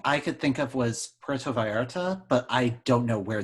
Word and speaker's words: Puerto Vallarta: Your guess of Puerto Vallarta, right? That's how you say it.